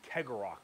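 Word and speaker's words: Cegorach: by their god named Kegarok, I believe is how you pronounce his name.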